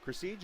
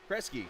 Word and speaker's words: Kresge: Cresige, is that how you said it? I've been listening to how you've been saying it. Kresge.